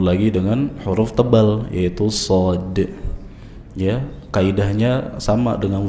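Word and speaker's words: ص: Nah, shad diucapkan dari dekat ujung lidah. Nanti dia posisinya agak sedikit ke atas gigi seri bawah.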